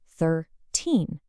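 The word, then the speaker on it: thirteen: Look at the left side, the teen numbers, 13, 14, 15. The strong part of the word, the stress, is right at the very end. 13.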